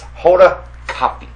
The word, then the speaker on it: Hoda Kotb: It's Hoda Kotb. K-O-T-B is coffee.